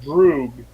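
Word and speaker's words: droog: known as epir apyr actually pronounced drug d-r-o-o-g a Russian for a friend what pass the hell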